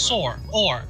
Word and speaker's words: sorry: It was a long O. It is. Sore. Or. Like, as an or. Sorry. In Canada, it is. Does Celine also pronounce it that way? Yes. And I was like, what are you doing? But there's, no, that's like, it's a Canada thing, apparently.